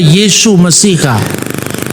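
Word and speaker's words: Yeshua Mesiha: Meskipun tertulis Yesua, jadi dibaca Yesu Mesiha.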